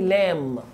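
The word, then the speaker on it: lamb: سباحه بول ممكن اقول اللحم الضاني لام البيبي ما تنطقهاش لام لام فاكهه الرمان اسمها احفظ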